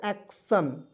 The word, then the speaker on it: एक्शन: एन क्या पढ़ेंगे दोस्तों एक्शन क्या पढ़ेंगे एक्शन देखिए एक्शन पढ़ेंगे ठीक है एक्शन यहां देखिए जब टी आई ओ एन रहता है तो इसे पढ़ते हैं सन टन नहीं पढ़ेंगे एक् एक्सटर्न बहुत लोग